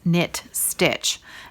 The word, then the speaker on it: Knit Stitch: And that is spelt exactly the way it sounds, Knit Stitch.